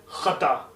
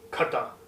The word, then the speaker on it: खता: गलती हो जाना आपसे, उसे हम कहते हैं खता और ना कि खता।